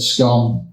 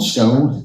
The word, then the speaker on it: Scone: He's eventually crowned at Scone, or Scone, depending on how you say it.